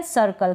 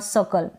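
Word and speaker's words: circle: जो ई है अब यहां पर ये जो लास्ट में ई है इसको हम प्रोनाउंस नहीं करते हैं ठीक है प्रोनाउंस नहीं करते हैं तो सर्कल सी का क बन गया और एल जो है एल है ना इसका ल बन गया और आर को हम आधे र यानी बिल्कुल हल्का सा इसको प्रोनाउंस करें ना भी करेंगे तो चलेगा जैसे यहां पर मैंने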